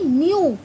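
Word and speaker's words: new: ई डब्ल्यू तो अब इसे हम क्या बोलेंगे न्यू यू की वॉइस आ रही है किसकी आ रही है यू की तो उच्चारण क्या हुआ हमारा यू का ऐसे ही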